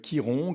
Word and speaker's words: Chiron: majeur de cette émission c'est Kiron et Kiron qui est la planète de la blessure ça s'écrit Chiron c'est symbolisé par un cas